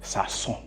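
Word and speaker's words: Sazón: You gotta say it like that too. Like when you say it, Sasson. A little emphasis.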